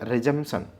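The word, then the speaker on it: resumption: तो पहला देखिएगा रिजंपशन। देखो बोलना रिजंपशन है लेकिन लिखना रिजंपशन है। आर ई एस यू एम पी टी आई ओ एन। तो पी इसमें साइलेंट हो जा रहा है।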